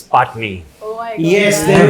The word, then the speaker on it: Patani: It's Patni. It's It's Patni. I think it's as simple And as why that. you spell it Patani?